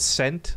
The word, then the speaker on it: scent: Is the S or the C silent? The S. Why? Because scent, like the penny, is C-E-N-T, and that's pronounced the same.